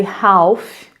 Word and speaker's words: half: A gente escreve half, mas a gente fala half.